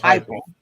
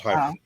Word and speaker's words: Heupel: How do you say his name? Oh, Heupel. Josh Heupel. I can't even say his name. Yeah, Josh Heupel.